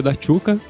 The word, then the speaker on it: Daciuk: meu nome é daciuk como você comentou a pronúncia do meu sobrenome é da chuca por isso o meu